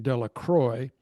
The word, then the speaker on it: Delacroix: Bobby and Harry Jones and Dickie Delacroix, the villagers pronounced this name Delacroix, eventually made a great pile of stones in